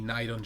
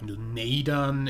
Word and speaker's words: Neidon: now we have a night on ship that needs a that's that's the only building also I am pronouncing night on in kinda German you'd probably pronounce it more like noon Aidan in English but I don't really